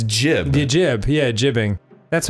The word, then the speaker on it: gib: I didn't know my whole life I've been pronouncing gib wrong. It's jib.